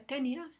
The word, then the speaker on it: tenía: Vemos que como la i lleva tilde tenía sabemos por ese esa marca ortográfica que va a formar un yato, no va a formar diptongo con la siguiente a tenía la i y la a están en sílabas diferentes.